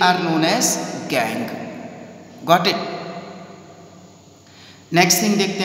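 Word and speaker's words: gangue: एंड one more thing here, गैंग। बेटा आप लोग इसकी जो स्पेलिंग है उस पर मत जाइएगा, प्रोनाउंसिएशन इसका गैंग ही होता है।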